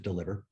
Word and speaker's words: DLVR: the ceo of deliver spelled with no vowels so dlvr but we pronounce it deliver and what we do